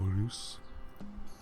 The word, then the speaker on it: Reus: Maybe there's a little more trill to the R in the beginning, but that is the way to say it.